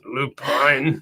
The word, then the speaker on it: lupine: Or is it lupin? Lupini? It's lupine.